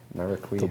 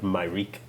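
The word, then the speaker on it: Myreque: I used to think it was Myrique when I was young. We just did the pronunciation video, I forget already. It's named after the maquis from French history, that resistance movement, named partly to sound like maquis, and also, so you've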